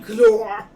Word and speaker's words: Glor: I'm Glor. Right. That's how you say it in my tongue.